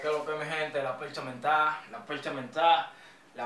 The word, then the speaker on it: La Percha Mentá: La percha menta. Con acento en la A.